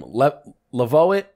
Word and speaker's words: Levoit: Levoit.